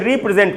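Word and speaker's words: re-present: देखिए सबसे पहले उच्चारण क्या है, ये है दोस्तों रिप्रेजेंट, ये था रेप्रेजेंट, ये है रिप्रेजेंट।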